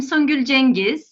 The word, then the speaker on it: Songül Cengiz: So I'm Songül Cengiz, the right way to say it.